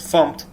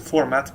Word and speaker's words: fmt: of, and well, also the pronunciation of this library is a little bit a debate, we could say. So there are most people pronounce it as font. Some people just pronounce it format, because, well, the font here name comes from format, because it basically it imports input output capabilities as well as string formatting capabilities.